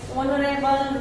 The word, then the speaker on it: honorable: ऑनरेबल मैन। मेरा हो गया। यहाँ आगे भले ही एच है, फिर भी हमें उसको एच को प्रोनाउंस नहीं करना है और उसके आगे हमें क्या लगाना है?